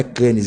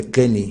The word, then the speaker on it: Cannes: A pronúncia correta, Ramon, não é Cannes, é Cane.